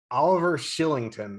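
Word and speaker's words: Oliver Kylington: when mongiapani and i forget oh shillington it's pronounced oliver shillington i was told so that is a nice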